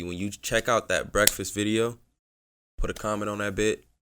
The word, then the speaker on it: Breakfast: It's called Breakfast, but I pronounce it as Break Fast.